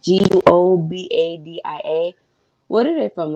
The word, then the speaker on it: Guobadia: gonna try to pronounce it. Guobadia. Yes. So however that's pronounced, Guobadia.